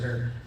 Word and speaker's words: Her: My last name is pronounced hair spelled H E R.